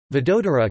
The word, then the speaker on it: Vadodara: Vadodara, Gujarati pronunciation, Oda, formerly known as Baroda, is the third largest city in the western Indian state of Gujarat, after Ahmedabad and Surat.